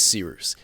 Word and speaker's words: Cyrus: My name is Cyrus. It's spelled like Cyrus, pronounced like sea rooster. Just take out the tur.